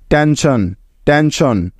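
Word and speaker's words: tension: তাহলে এই শব্দটির উচ্চারণ হবে TEN টেন এবং SION শন, টেনশন, টেনশন।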